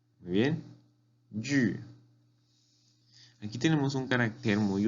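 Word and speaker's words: 玉: Y se pronuncia yu, yu. Muy bien, yu.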